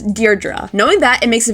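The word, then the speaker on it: Deirdre: This name may look tricky to pronounce, but it's pronounced as Deardra.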